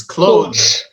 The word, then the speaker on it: clothes: Even though even Westerners and natives, it's clothes. If you say it slowly, the proper pronunciation is clothes. And then clothes.